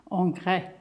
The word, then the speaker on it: Ingres: I've prepared I have Ingress paper which actually is a French name and would correctly be pronounced Onre it has a slightly